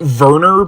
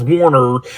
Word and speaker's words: Werner: now I'm pronouncing it Werner because apparently in Germany the W is said with a V sound I could be completely